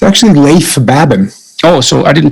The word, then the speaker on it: Leif Babin: The Dichotomy of Leadership with fellow retired SEAL Leif Babin. Did I pronounce that right? It's actually Leif Babin. Oh, so I didn't pronounce it right at all. Leif Babin.